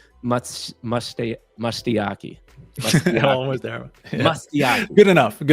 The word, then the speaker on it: MustaYaki: Follow me, follow Final Bosu, and follow JJ, which is actually pronounced MustaYaki.